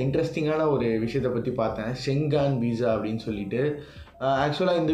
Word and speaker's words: Schengen: First வந்து ஷெங்கான்னா என்ன அப்படின்ட்டு வந்து ஆக்சுவலாக நான் கரெக்டாக தான் ப்ரொனவுன்ஸ் பண்ணுறேன்னான்னு தெரியல. ஒரே நிமிஷம் இருக்கு, நான் பார்த்துட்டு வந்துடுறேன். ஸோ வந்து ஷெங்கன் ஷெங்கான் இல்லை ஷெங்கன்.